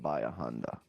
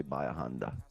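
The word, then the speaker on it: Bahia Honda: had the keys look this is how you spell it by yeah honda but it's read by a honda benihana no honda but it's you say by honda it's a it's one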